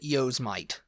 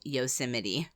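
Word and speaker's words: Yosemite: always I whenever I read it I'd always pronounce it yosmite yosmite yosmite it's yosmite the national park yes which is actually yosity yosity and people would say yosity and I'd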